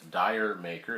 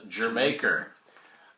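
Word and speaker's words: D'yer Mak'er: it's called or they might pronounce it as dire maker it's actually called der maker to pronounce as Jamaica this son this album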